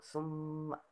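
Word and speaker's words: ثُمَّ: Yang pertama yaitu summa. Nah, hukum tajwidnya yaitu gunnah karena huruf mim bertasdid. Nah, cara membacanya dengan cara ditahan 2 harakat.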